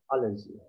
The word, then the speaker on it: allergy: case medicine allergy yeah the stress the stress is in the a allergy okay allergy when you